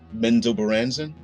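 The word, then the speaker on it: Menzoberranzan: Yeah, Robert Salvatore and Ed Greenwood pronounce it that way. Menzo Baranzan.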